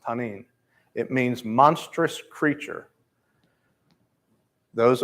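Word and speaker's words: תנין: it is the act the Hebrew word is tanin is how it is pronounced tanin it means monstrous creature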